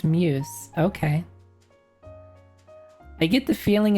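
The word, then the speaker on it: μ's: Is that Is that a U? Or is this like did the question get butchered? It's pronounced muse.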